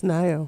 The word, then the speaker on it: Nayo: Am I pronouncing that right? It's Nayo. Nayo, so close.